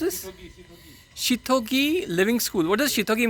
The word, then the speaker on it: Seithogei: इसको हाउ डू you pronounce this? Shithogi Living School.